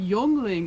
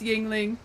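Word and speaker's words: Yuengling: like this Yingling sign they're like oh no that's like yungling like they were pronounced it for it's like no no no it's Yingling it's Yingling we don't know how to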